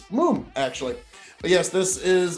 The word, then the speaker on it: Mumm: the pronunciation of it it's not mum as you would think m-u-m-m that's the way us americans would pronounce it it's moom actually but yes this